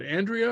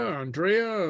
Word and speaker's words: Andrea: um um Andrea uh what's the correct pronunciation of your name is it Andrea Andrea um Andrea's good Andrea okay okay good okay